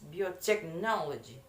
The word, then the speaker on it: biotechnology: Okay, the first that is biotechnology. The word stress placement that is biotechnology. The place of the stress that is in the third.